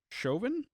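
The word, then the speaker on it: Chauvin: That is uh Lily Chovin, I think is how you'd say her name. It's French.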